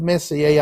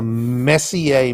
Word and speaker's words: Messier: april if we get these four or five messier objects right in the sunset and we stay